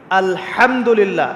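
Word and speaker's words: الحمد لله: আলহামদুলিল্লাহ। এই হা এর মাখরাজ কোথায়? হা এর মাখরাজ কোথায়? বলেন একজন কন্ঠনালীর মাঝখান থেকে এখান থেকে আপনি উচ্চারণ করছেন আলহামদুলিল্লাহি রাব্বিল আলামিন অর্থ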